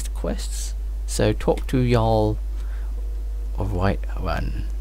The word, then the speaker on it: Jarl: So talk to Jarl of White One. They pronounce their J's with a Y, like a Y.